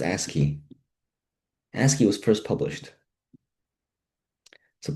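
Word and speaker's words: ASCII: ASI is pronounced ASKI.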